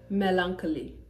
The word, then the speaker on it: melancholy: for instance anchor anchor okay yes chaos chaos Melancholy melancholy so I'd like you to give me